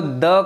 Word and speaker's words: the: Pronunciation की जहाँ तक बात है, इसको द कहा जाता है और दी भी कहा जाता है. द कई बच्चे बोलते हैं, वो गलत है. प्रोनंसिएशन इसकी टू है, द एंड दी. द का तब हम इसको प्रोनाउंस करते हैं जब इसके सामने वाली नाउन की बिगिनिंग कॉन्सोनेंट साउंड से हो, और दी तब बोला जाता है जब सामने वाले नाउन इसकी वॉवल साउंड से बिगिनिंग हो.